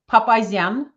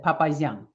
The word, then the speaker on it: Papazyan: But so it's Papazyan. It's the Armenian, or Russian, how we pronounce it, Papazyan.